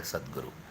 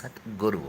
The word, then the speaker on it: Satguru: The guy called Sadhguru doesn't even know the meaning of the word Sadhguru. See, it is not even Sadhguru, it is Satguru.